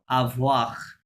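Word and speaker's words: avoir: আর উচ্চারণ করতে হবে আভোয়াক আভওয়াহ।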